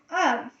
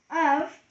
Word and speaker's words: of: the next one is of of rhymes with love the next word is of all right this wand of rhes with love okay of has two sounds H and v h and V you